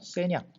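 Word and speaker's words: 咸阳: 진나라 때는 함양, 중국 발음으로는 세냥 이렇게 불렸어.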